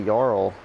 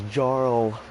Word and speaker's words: Jarl: is it okay Jarl I want to say yl but they're pronouncing it is Jarl and yarl sounds Russian a little bit all right PB and